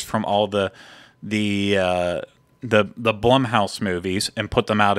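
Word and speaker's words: Blumhouse: were waiting on the which I will now pronounce it correctly because apparently I didn't last week Blum house not Blum house as I was saying before Blum house we're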